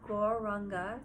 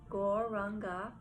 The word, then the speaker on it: gauranga: as we inhale we say the sound gauranga three syllables gauranga said to yourself as